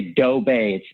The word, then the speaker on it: Doe Bay: When I say Doe Bay, you think about how Homer Simpson says Doe. Yeah. Well, it's spelled just like that, D, but except DOE.